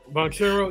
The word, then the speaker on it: Banchero: Banchero, yeah.